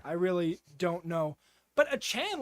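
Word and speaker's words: Achane: really don't know but achan last week the rookie that's how you say it by the way guys I know you want to say a chain that's how it's spelled it's Devin achan went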